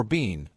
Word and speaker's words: Biehn: His surname is German, pronounced "Biehn" or "Bean" depending on who's asking.